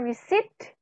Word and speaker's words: receipt: Upon receipt, bacanya receipt, P-nya kita ilangin.